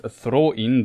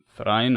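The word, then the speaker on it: Thráin: Dís was the daughter of, I pronounce him in Old Norse, Throin the second, also some might pronounce him Thrain or Thrain the second.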